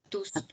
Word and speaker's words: tous: louis a touché là il faut prononcer le s tous tous pour tous oui oui j'ai déposé